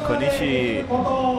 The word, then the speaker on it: Konishi: Next rider up, Konishi Linku. There you go. That was good pronunciation, my friend. Konishi.